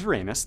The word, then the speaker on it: Uranus: 47 C it's a gas giant the size Uranus that's how you pronounce it so don't make any comments and